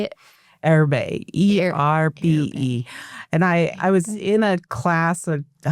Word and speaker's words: Erbe: Erbe, ERBE.